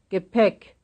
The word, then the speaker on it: Gepäck: heißen, 13, Gepäck, Gepäck. Second syllable.